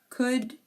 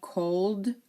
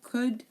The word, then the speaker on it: could: and P okay um it's also silent in words could should and would okay here are some more exceptions could should and would you do not hear the L we do not say cold should or w we